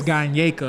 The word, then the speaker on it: Gyneka: being honored for a Gyneka Award. I was told it's Gyneka. I called it something else, and that wasn't what it was.